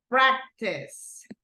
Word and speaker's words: practice: this one right here practice practice first or second syllable Maria second listen to my pronunciation practice practice so goes in the first one okay we go practice